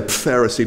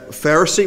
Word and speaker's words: Pharisee: Although the first one, my children tell me, doesn't really work because it's pronounced pff. So we could say Pharisee to try and make them all sort of rhyme here.